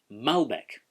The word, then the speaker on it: Malbec: it always has been malbec the emphasis sits on that first syllable but in south america